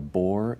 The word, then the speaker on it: Bohr: to be our Focus notice that this word isn't spelled like just a bore like b o r e but rather B HR that's a gentleman's name